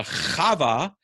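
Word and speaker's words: חוה: And there is no guttural in Greek. They couldn't pronounce the Chava, so they took the coward's way out and just left it off. So Chava became Eva, and Eva in English becomes Eve.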